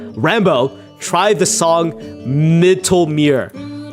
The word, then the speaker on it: Rambo: Rombo. Rambo. My god, dude. I literally pronounced my own name wrong. Rambo.